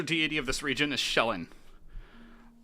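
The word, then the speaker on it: Shelyn: started feldrin major deity of this region is shellin it's spelled s h e l y n minor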